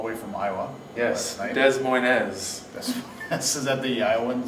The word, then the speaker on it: Des Moines: Yes, Des Moines. Is that the Iowan saying? Is it the pronunciation? Yes, it's the proper French pronunciation. It's Des Moines.